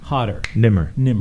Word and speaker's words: Nemr: Nemr. Look, let me give you a good way to remember it. It's like simmer, but hotter. Nemr.